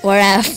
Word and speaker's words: wrap: We do not say wrap. Oh yeah, wrap. Yeah, we say wrap and right, so here the silent letters are W.